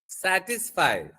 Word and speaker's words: satisfy: సాటిస్ఫై satisfy verb కాబట్టి stress will be on the second syllable.